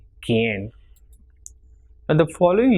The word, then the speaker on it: quien: And if it is QUI, it will be pronounced as ki and not qui. So it will be quien.